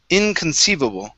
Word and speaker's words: inconceivable: big one here so this is inconceivable so our stress is right here inconceivable inconceivable okay give me